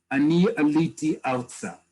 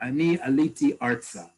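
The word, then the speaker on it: אני עליתי ארצה: describing who you are ani aliti alsa or ani aliti artsa okay that's the proper way to say i made aliyah in hebrew not a literal translation from english very important one but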